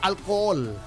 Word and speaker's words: alcohol: is silent so ang alcohol Ang spelling niya parang English pero ang pronunciation alcohol silent yung h wala h o ang